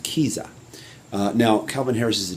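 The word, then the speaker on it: Kiesza: can pronounce this right it's spelled k i e s z a i think it's pronounced kiza now calvin harris is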